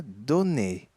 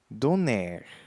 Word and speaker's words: donner: e Dune acabo com e se pronúncia do Ne e não com muitos pessoas Brasileirão falam donner não done letra B esse verbo